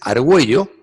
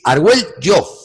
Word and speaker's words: Argüello: La doble L tiene 2 pronunciaciones. La que conocemos de toda la vida, que es Argüello, pero tiene otra que apenas se utiliza. Proviene del castellano antiguo. Es Argüello.